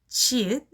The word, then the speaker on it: 치읓: And it has the sound ch. You can try to say the word has ch, then you can say 치읒 with the perfect pronounce. Ch, chair, ch, channel. Yeah, like that.